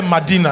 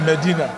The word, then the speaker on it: Medina: find it Medina m-e-d-i-n-e I didn't say Madina I said Medina I know someone pronouncing like that Medina but m-e-d-i-n-a Medina Medina hallelujah oh Clap Your Hands